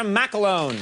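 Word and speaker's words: McElhone: Please welcome Natasha McCloughan. That's how you pronounce her last name.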